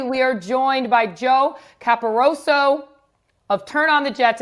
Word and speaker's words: Caporoso: And then today, we are joined by Joe Caporoso of Turn on the Jets and Badlands podcast.